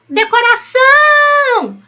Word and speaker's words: decoração: e decoração de ração Qual a sílaba tônica chama a palavra decoração Ah então essa daqui ela é mais forte essa palavra é oxítona e próximo Qual é